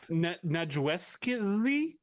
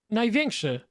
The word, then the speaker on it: Największy: Najweski?